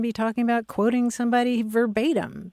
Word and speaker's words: verbatim: talking about quoting somebody verbatim because in Latin it's where bottom and uh we shouldn't